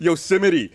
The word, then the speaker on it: Yosemite: Yosemite. It's also too many syllables. It's a fucking 4-syllable OS name.